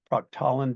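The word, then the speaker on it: proctolin: had somebody ask also if this is a pro talin based chemistry can you repeat that falland let me spell it for you yeah p r o c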